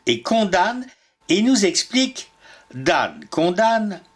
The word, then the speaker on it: dam: condanne et nous explique dan condamne l'EM de cette terminaison ne se prononce point et n'y est mise